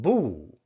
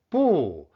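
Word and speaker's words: 不: The second tone change phenomenon is the tone change of boo. Bu means no or not. Whether boo changes tone depends on the tones of the following syllable. Specifically, b fourth tone changes to second tone. If the following syllable is in the fourth tone, for instance, in the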